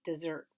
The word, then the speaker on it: Desert: on an island called Mount Desert but she pronounced it dessert ice cream cookies brownies